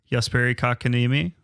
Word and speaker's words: Jesperi Kotkaniemi: The newest addition to the team, former number 3 overall pick, Jesperi Kotkaniemi.